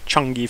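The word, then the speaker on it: Chang'e: there's something like the changi 4 um which is spelt in english change but with an apostrophe between the g and the e um and it it's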